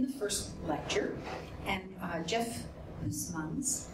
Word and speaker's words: Huysmans: And Jef Huysmans, whose name I really wanted to pronounce right, because we pronounce that Huysman here in France, Huysmans, who is a professor